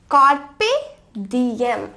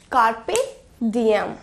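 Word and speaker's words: carpe diem: और इस वर्ड को प्रोनाउंस करते हैं एज कार्पे डीएम, कार्पे डीएम। मेरे साथ बोलिए, कार्पे डीएम।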